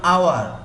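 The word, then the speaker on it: hour: যেমন আওয়ার, যেটা ঘন্টার আওয়ার, এখানেও কিন্তু এইস আছে কিন্তু এইস উচ্চারণ হয় না।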